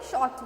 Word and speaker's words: short: तो इसमें क्या होता है, SHORT, इसमें क्या होता है, आर का प्रोनाउंसिएशन नहीं आता है, ठीक है, आर नहीं बोलते हैं जब हम बोलते हैं SHORT, शॉर्ट बोलते हैं, ठीक है, शॉर्ट मतलब छोटा.